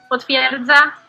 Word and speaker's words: potwierdza: Okay, so, but now how do I properly pronounce it? That's the real question. Wyjątek. Wyjątek. Potwierdza.